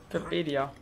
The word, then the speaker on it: Webedia: Mit ganz vielen Leuten von, boah, jetzt muss ich es richtig aussprechen. Webjeder? Wie spricht man das nochmal aus? Webedia. Naja, genau so.